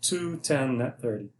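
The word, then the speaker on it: 2/10, n/30: 10 comma n 30 which is pronounced as read as uh 210 net 30.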